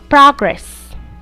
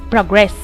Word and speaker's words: progress: Look and listen to the following words and notice that all of them are nouns and all of them are pronounced making the stress in the first syllable. Progress, present, object, record. When these nouns are converted into verbs, their stress changes to their second syllables.